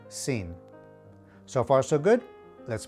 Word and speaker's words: sin: simply means without and it's pronounced like the english sin so far so good let's move on to verse 4.